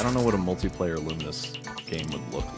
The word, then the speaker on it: Lumines: Uh, the game is actually pronounced Luminous.